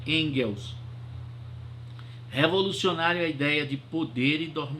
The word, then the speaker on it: Engels: Frederick Frederico em Girls se escreve em gelos mas pronunciarem deles é isso Call Marx e Friedrich engels a revolucionária ideia de